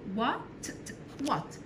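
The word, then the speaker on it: what: تات ازاي الاول و حرف الدبليو والش سايلنت متنطقهاش وبعدها الاي وات كده كتبنا كلمه وات دي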